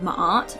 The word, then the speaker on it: Ma'at: to a new walkthrough i believe it's pronounced feather of my art with that little break in there sorry if i do